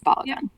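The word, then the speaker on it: Balogun: That's not the proper Nigerian way to pronounce it, but that's how he pronounces it. And I'm going to pronounce it the way he pronounces it. It's Balagon.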